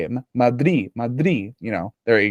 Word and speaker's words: Madrid: And if I may as well, I noticed Daniel earlier, he said Madrid, as if like the second D is silent, right? Is the second Yeah, D silent? Madrid. Madrid. Madrid.